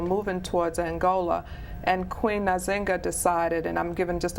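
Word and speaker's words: Nzinga: an angolian Queen and you'll hear her name pronounced a number of different ways but I say nazinga um she was an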